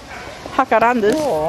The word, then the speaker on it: jacarandas: Hakarandas. Jacarandas. Have you a Spanish lesson, Lee? So J is pronounced H.